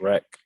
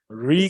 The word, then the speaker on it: Reek: I thought it was wreck. Freak wreck. That doesn't make any sense to be freak wreck. Bruh, that's what it says on your name. Reek It's a is long- spelled with 2 E.